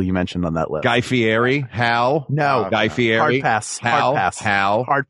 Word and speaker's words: Guy Fieri: I'd like to release a public statement on Guy Fieri. Yes, I said his name right. I have respect for pronunciations.